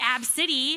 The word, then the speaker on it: Abcde: her daughter whose name is spelled ABCDE Redford pronounced AB City how insensitive you two not know that and